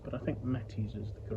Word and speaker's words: Mates: it's my understanding that the name is pronounced mattis rather than mates which it could be read as or equally I have heard people say martes but I think mattis is the correct pronunciation there.